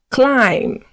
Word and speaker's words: climb: Climb. Good. Comb. Good. Please pronounce after me.